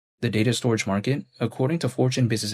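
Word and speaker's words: Storj: there's storage but then it's spelled like store j like s t o r j but then a lot of people call it storage but besides that point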